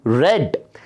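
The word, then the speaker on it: read: और V2 का pronunciation रेड। The principal रेड the report.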